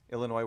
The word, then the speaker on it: Illinois: illinois outside of chicago illinois where the s is silent he's good important to